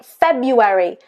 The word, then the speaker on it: February: And of course you've got other words like February, February. There's an R there. It's not pronounced, it's not February, it's February.